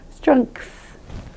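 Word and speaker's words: strength: So we put -- naturally enough -- we put a K in there, so it sort of goes "strengkth", makes it easier for us to say.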